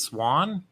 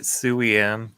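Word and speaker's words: Siuan: Wait, her name's pronounced Swan? Yeah. Well, I'll be honest. Being from Ireland, that doesn't seem that weird to me. Like that's. I always pronounced it Suian.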